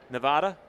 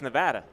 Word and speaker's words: Nevada: week and do you know how they say nevada it's nevada not nevada nevada well they're saying it wrong